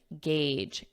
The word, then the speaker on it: gauge: Gauge, age. So just like age, what age are you? And just add a g, gauge.